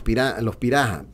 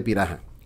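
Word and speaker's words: Pirahã: les conoce como los Piraha. Se escribe Piraha, con H intercalada, pero para brasileños, en portugués y en el inglés, la H suena como J.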